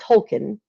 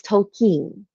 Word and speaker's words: Tolkien: it all my life wrong it is not Tolkien how I pronounced it because I'm a southerner and that's how we talk it is Tolkien so just a little tidbit hint there in